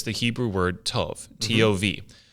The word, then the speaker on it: tov: So you look at Genesis and the creation account, and when God creates things and then pronounces them good, it's the Hebrew word tov, T-O-V.